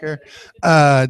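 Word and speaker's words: Herer: here today, Paul Stanford, Jack Herrera, rhymes with terror, right? Jack Herrera, Dr.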